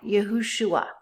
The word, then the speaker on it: Yahushua: and work it out yahushua in ancient Hebrew there was no V sound there was a w sound and um in the